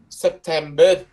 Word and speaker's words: September: September, September, September, September, gần đó đọc giống chữ bơ vậy, nhưng mà b chữ e nha, tại vì cái chữ er các bạn nhớ chữ er nó sẽ đọc gần như là chữ e nhé, chữ er giống như là dây r các bạn nhớ không, dây r student, dây r đọc là September, September nhé, nhớ cái âm đó.